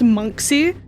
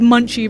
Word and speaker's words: Monksy: Which, by the way, who else fucking knew that it was pronounced Monksy? I've been pronouncing it as Munchie this whole time.